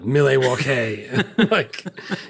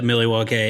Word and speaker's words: Milwaukee: kid, Alice Cooper going, "It's actually pronounced a milwauke. The good land." Uh when I asked Will just this past uh NBA finals, I was like, "Who you pulling for?" He spelled it out. Millewalk. He uh we It's Alangquin for the good land. Dude, I've been to Millywalk and I feel like I pronounced it Millywalk at least a good portion of the time when I was there